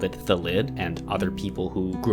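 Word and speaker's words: Thallid: I have been calling this card thelid for longer than many of you have been alive. For reference, it seems that most of you are convinced that this card is called thalid.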